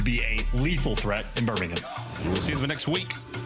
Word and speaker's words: Birmingham: And it's and you say it right and it's Birmingham. Not not Birmingham. Not Birmingham. There's no There's no B. Don't pork involved. It's It's Birmingham. Birmingham. I know English is very complicated language.